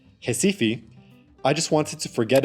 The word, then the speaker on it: Recife: Upon arriving in Recife, or as it's pronounced in Brazil, Recife, I just wanted to